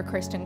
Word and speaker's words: Christen: You can remember my first name like Chris, and then the number 10, and that's how it's spelled. And I've got a MySpace as well, which is Christen Music.